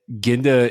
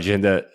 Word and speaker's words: Genda: recently tweeted out that ginda is building an entertainment conglomerate sorry jinda that jinda is building an entertainment conglomerate and that he aims to avoid jinda shares being valued based